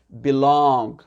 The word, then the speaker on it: belong: Et le dernier verbe qui va être belong. D'accord? Ceci m'appartient. It belongs to me. Pareil, l'accent tonique sur la deuxième syllabe.